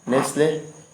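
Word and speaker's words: nestle: चले अगले वर्ड है नेस्ले। नेस्ले कंपनी भी है, पता ही होगा आपको, ठीक, अच्छी कंपनी है। चलिए नेस्ले मतलब टी साइलेंट रहता है तो पनाह देना या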